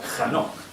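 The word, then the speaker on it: חנוך: dejarnos para nada indiferentes Enoc en hebreo es se escribe con k J Este es el inicio kj anoc o sea hanok vale Y ya sabéis que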